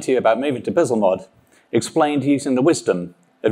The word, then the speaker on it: Bzlmod: I've heard it pronounced Bzlmod, but I'm English, so Bzlmod would sound wrong. Bzlmod.